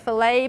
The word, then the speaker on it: filet: true but just remember in most cases in in in in french especially those sur and t sounds when they're in isolation you don't pronounce them that's how you get filet buffet and depot and the the the